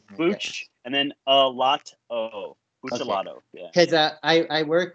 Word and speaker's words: Buccellato: It's Buccellato. So it's like Buccellato? Okay. Bucce, and then a lot o.